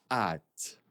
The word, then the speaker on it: hâte: Et le dernier, attention, on ne prononce pas le H. J'ai vraiment hâte.